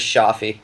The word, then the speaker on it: Chohfi: band blue Helix Samy Choi how do you pronounce your last name is that correct or it's pretty close it's it's pretty much how everyone pronounces but of shaffi shaffi okay excellent Samy shaffi